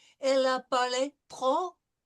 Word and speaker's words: trop: Elle a parlé trop, no pronouncing of the P, vite.